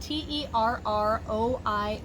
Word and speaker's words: terroir: i do pronounce as the way i've heard it from the sommeliers i've talked to is terroir almost like a w sound for us english-speaking people but it is a french